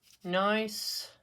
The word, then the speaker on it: Gneiss: to do four patterns for you today in nice is how you say that I do believe